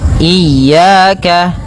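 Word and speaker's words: إِيَّاكَ: Kesalahan pertama, tidak pakai tasydid, tidak tasydid. Yang kedua, yaitu dia memanjangkan i ya dengan bacaan mad thabi'inya. Kesalahan yang kedua, yaitu tidak eh atau memanjangkan huruf i ya, nah seperti itu. Maka, yang pertama tidak mentasydidkannya, yang kedua memanjangkannya. Kemudian, pada lafal ya ada mad thabi'i berupa fathah bertemu alif. Maka, dua harakat.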